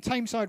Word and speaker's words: Tameside: Tony Dino Corrigan says, greetings from Tameside Radio. Is it Tameside or is it Thameside? It's spelled T-A-M-E, not like T-H.